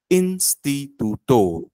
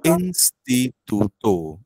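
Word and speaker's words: instituto: साठीचा शब्द दिलेला आहे तू तो इन्स्टितो इन्स्टितो असाच वाचायचा कायम त्यानंतर त्याच्या पुढचा काय एक वेळेस वापस सांगा शब्द इन्स्टितो इन्स्टितो इन्स्टिटुतो म्हणजे इन्स्टिट्यूट इन्स्टिट्यूट त्यानंतर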